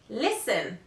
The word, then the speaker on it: listen: words in which the letter T is not pronounced the list is the following Castle Christmas fasten listen often although this word